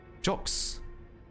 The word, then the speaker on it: Jack: It's like Jacques. Oh, Jacques. Jacques. I thought it was jockeys. What, like a bag of talkies? Jockeys? Sounds like jockstrap. It's like jock with a softer J.